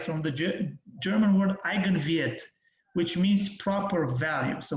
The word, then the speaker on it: Eigenwert: Well, you pronounce Eigenwert, but anyway, this is how you pronounce Eigenwert, which means proper value in German.